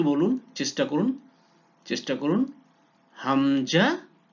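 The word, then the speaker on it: همزة: হামজা হা, yes Hamza হা। বলুন তো হামজা হা কোথেকে উচ্চারণ হয়, একটু চেষ্টা করুন, চেষ্টা করুন। হ্যাঁ, কণ্ঠনালীর প্রথম ভাগ থেকে হামজা হা।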